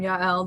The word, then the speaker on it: Yael: And Yael, that's how I say her name, Yael, the main character, she was a young child who was in the Jewish concentration camps.